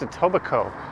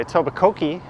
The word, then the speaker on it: Etobicoke: top it is pronounced etobicoke or you could say a tobacco key if you want everyone to instantly recognize you as someone who's not from around toronto i think it was